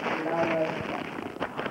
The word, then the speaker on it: La Rosa: La Rosa. Why do you put the emphasis on the last syllable?